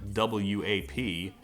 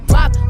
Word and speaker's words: WAP: I call it WAP, which is apparently wrong. Cardi gives the actual pronunciation in the song. I should have just copied her. I'm talking whap, whap, whap.